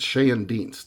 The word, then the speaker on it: Schoendienst: and I pronounce it Shay and de like Shay like Fay like Shay and and